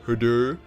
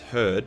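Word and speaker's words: Hrud: fought it including the her actually pronounced herd but I think it's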